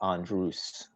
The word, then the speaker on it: Andrus: about this last week or the week before elvis andrus am i pronouncing that correctly it's andrews all right there you go my first clothes